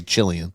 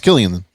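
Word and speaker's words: Cillian: see I thought it was kilan for the longest time then I thought I heard somebody say chillian and I'm pretty sure even he's I think I saw a Tik Tok where even he pronounced his name k okay well it's Killian uh Oppenheimer Jeffrey Wright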